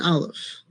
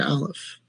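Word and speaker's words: aleph: Every letter in Hebrew has a sound except for the letter alf. The letter alf is silent. It doesn't have a sound on its own.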